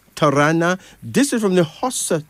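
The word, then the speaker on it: Tarana: tamasha then there's uh Tana Tana t a r a n a pronounce Tana this is from the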